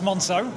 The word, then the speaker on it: Moncaeu: First of all, I have no idea how you pronounce the brand name, so please tell me how you pronounce it. So it's Moncaeu. Moncaeu.